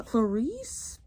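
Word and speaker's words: Clarisse: just the way it is and I saw Clarice that's how you say her name Person describes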